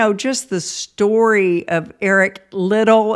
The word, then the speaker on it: Liddell: But, just the story of Eric Liddell, is that how you pronounce his last name instead of Liddell? It's Liddel.